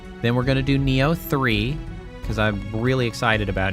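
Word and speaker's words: Nioh: Neo3, that is spelled N I H3. Um, I can understand why you would spell it neo because that is also how it sounds.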